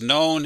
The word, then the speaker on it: known: perfect bob has and the k is silent bob has known him so him as